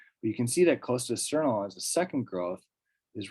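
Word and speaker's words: Cos d'Estournel: Usually the one that's most people's favorites is this Côte d'Esternol. I actually believe you pronounce the S here. Usually you don't in French, but this is Côte d'Esternol.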